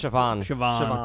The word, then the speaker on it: Siobhan: tonight her name's Siobhan it's Siobhan she's cool looking for an Irish bees are pronounced like artists the BHS it's like little kids trying it's like